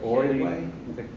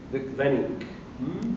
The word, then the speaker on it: Weenink: Is it Oiway? Weenink.